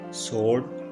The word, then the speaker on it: sword: इस सेंटेंस में लफ्ज़ sword में W साइलेंट है।